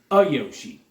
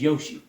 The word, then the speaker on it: Yoshi: I always add an A in front of it. Weird thing that I do call him a Yoshi. He's not a Yoshi. He's Yoshi.